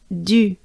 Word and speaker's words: du: Now, this is our first U here. U. What a funny sound, isn't it? So, basically, to pronounce the U, you want to make a droopy face. You drop, you drop your jaws, your mouth, your lips. You make a droopy face, and U.